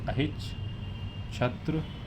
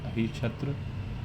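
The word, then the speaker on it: Ahichchhatra: शुरू में थी अहच छत्र। देख लेना spelling H आई सी एच C double H ए टी आर ए अह छत्र।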